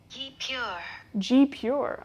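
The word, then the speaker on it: guipure: I would check calms you pronounce it though G pure okay very off all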